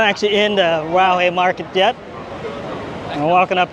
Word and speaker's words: Raohe: Raohe? Raohe.